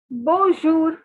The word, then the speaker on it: bonjour: and note the following the n is silent okay guys so n is silent n has a nasal sound so it is not to be pronounced so hello means bonjour bonjour see i know